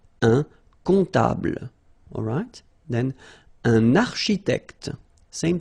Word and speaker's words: comptable: Un comptable, so OM, remember, it goes like on, alright? And then, strangely, this P is not pronounced. Un comptable, alright?